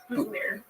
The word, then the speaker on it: Boutillier: Boutillier, am I pronouncing that correctly? Boutelier. Oh, Boutelier. Boutelier. Oh yeah, you really fucking Canada that up. That's a real French last name, just white trash to the devil. It's just Boutelier.